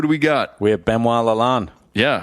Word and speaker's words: Benoit Lalonde: How do you actually pronounce it? Benoit Lalonde.